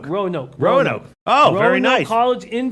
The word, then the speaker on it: Roanoke: team or college in Virginia how do you pronounce that rinoa where's Ren no key Roanoke grow nope Roanoke oh very nice college in Virginia that's great